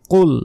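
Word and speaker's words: قُلْ: নয় কফ লাম পেশ কুল মোটা কফ অক্ষর উচ্চারণ হবে এখানে কিন্তু কাফ নাই এখানে আছে কফটা মোটা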